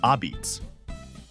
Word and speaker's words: apizza: Locals simply call pizza a pizza, pronounced ah-beets.